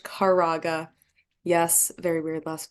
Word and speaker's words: Kwieraga: I'm known um but my last name is pronounced caraga yes very weird last